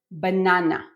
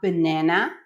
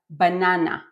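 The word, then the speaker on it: בננה: We pronounce it banana, not banana, not banana, but banana, banana.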